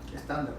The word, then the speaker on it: Stendhal: Pero fíjate, en realidad es una novela crítica porque refleja, como decía el realismo decimonónico, creo que era Stendhal, ¿se pronuncia así? Estándar, sí.